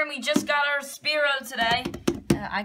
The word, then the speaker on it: Sphero: Sphero. Sphero. Yeah. Sphero. It's like S-F-E-R-O.